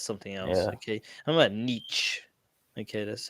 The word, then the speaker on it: Nietzsche: my niece that's something else okay i'm about nietzsche okay that's how you say his name anyway